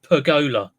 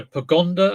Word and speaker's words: pergola: to be two words I keep calling the pergola I keep saying it wrong pergola okay I've called it a pagonda a pagundera a pagal okay garanderer 998 99.99 yes